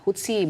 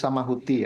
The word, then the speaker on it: Houthi: Anda tadi menyebutkan "Huti", tetapi pengucapan yang benar adalah " Houthi," kan? Tulisan tersebut adalah "Houthi" dalam bahasa Arab. Jadi sebenarnya seharusnya disebut Houthi, meskipun ejaannya H-u-t-i, tapi Anda sudah menyebutkannya.